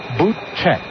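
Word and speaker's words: Bootcheck: time and backs out his last name is spelled just like it sounds boot check the 01 pitch and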